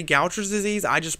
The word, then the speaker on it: Gaucher: When I say Gauchers disease, I just pronounce it as Gauchers disease.